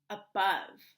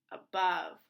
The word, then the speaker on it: above: this is the word above you will notice that the e is silent and the o makes the a sound uh but uh with a silent e what word above great job you will